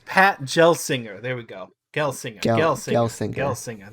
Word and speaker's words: Gelsinger: engineer oh gosh would you like me to pronounce his name david it's pat gelsinger there we go gel singer there we go